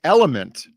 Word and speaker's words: LMNT: bionical is unique right like element a salt drink but they don't spell it like element they spell it lmnt oh Jesus Christ that's